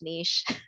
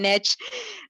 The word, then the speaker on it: niche: Oh, we call it niche in Canada. It's a French word. It's pronounced niche. You guys call it niche.